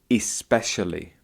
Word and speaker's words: especially: Um, you talked later, ah, there's one, um, tiny mistake that I noticed and you sometimes said it correctly, sometimes didn't say it correctly and it's the word 'especially.' So there's a difference between the word 'specially' and 'especially.'